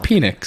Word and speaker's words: Penix: how you pronounce it. It's Yeah. Penix.